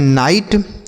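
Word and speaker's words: night: तो एनआईजीएसटी इसे हम पढ़ते हैं नाइट। एनआईजीएस टी नाइट। तो इसे भी हम नाइट पढ़ेंगे। ठीक है? यहां पे बच्चों के साइलेंट होता है। देखिए अगर के के साथ एन लिखा होता तो के साइलेंट होता है। ठीक? तो यहां पे इसे भी हम नाइट पढ़ेंगे और इसे भी नाइट पढ़ा जाएगा।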